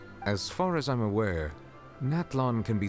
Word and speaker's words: Natlan: Natlan. Okay, good to know that's how I pronounce it.